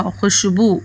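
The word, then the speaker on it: خوشبو: खे वाव शीन बेवा, खुशबू, देखो खै वाव शीन बे वाव खुशबू। ये जो वाव है ना बच्चों, इसमें ये साकिन है, साइलेंट है। इसको लिखा तो जाएगा, पढ़ा नहीं जाएगा। पढ़ा इस तरह से जाएगा,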